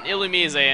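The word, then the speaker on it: Illumise: is more defensive and as for the pronunciation of il's name that's how the anime pronounce it that's why I'm saying it like that cuz everyone's like why aren't you saying it like ilumi but yeah that's why I'm saying it ilum Oddish or orish as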